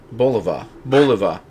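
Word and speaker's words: Bulova: But this is, I believe it's pronounced Boliva.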